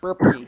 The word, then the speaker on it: Burpy: Burpy. Exactly how it sounds.